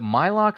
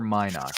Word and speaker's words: Mynock: Is it Mylock or Mynock? How do you say it? Mine Why not. not? Thank you. And then, Oh, with an N.